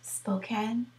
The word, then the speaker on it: Spokane: It's about Expo 74 that was held in the town she lives in, Spokane, I believe it's pronounced.